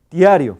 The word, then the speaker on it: diario: menos iguales tarí t pero diario diario La voca I siendo vooc siempre se pronuncia debe pronunciarse más breve que o a ver diario